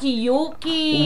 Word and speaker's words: Yuki: alexalja and Israel at Yuki which rhymes with suki suki and cookie wala na ubos na oo wala nagra-ride.